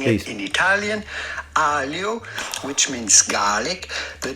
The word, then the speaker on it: aglio: Aglio, which means garlic. The G is silent, so pretty much... The G is not silent! I need some pasta, so sorry. Feel much better now. Aglio.